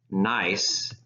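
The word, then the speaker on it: gneiss: foliation direction here's what nice looks like notice that the G is silent so we pronounced this nice rather than good nice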